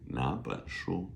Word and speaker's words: 哪本书: N-A third tone. B-E-N second tone. S-H-U first tone. 哪本书 is how it's pronounced, right? This first third becomes a second tone.